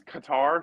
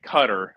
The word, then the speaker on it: Qatar: So, why has Qatar suddenly become Qatar and not uh or sorry, you you said it right. Everybody's been calling it cutter over the past couple of months.